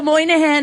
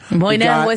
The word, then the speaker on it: Moynihan: Oh, Michael Moynihan is here.